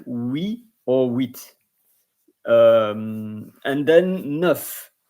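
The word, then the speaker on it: huit: Pt set And then with the H is not pronounced in French. So it's H UI T and it's same like we or with um and then N E UF and it could be nine.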